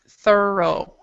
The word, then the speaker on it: thorough: And that's actually pronounced, if everybody wants to repeat, it's pronounced thorough.